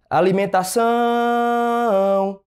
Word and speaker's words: alimentação: Alimentação, alimentação. Disse que a sílaba tônica seria o tá, e na verdade é o são.